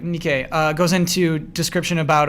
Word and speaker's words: Nikkei: it so well the Nick a article am I pronouncing it right whatever uh uh Nikkei you're right Nikkei uh goes into description